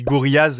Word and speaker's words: Gorillaz: Je précise au passage que je prononce gorilas, mais toute mon enfance, j'ai dit Gorillas et je pense que les deux sont très bien compréhensibles.